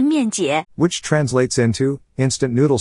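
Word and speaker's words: 面姐: is 面姐 not Mianjia. Sorry, I couldn't tell the difference.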